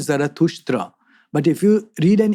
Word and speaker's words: Zarathustra: What's the story of, I want to get the pronunciation right, Zarathustra. Zarathustra. Okay. In the Avestan language, he is called Zarathustra.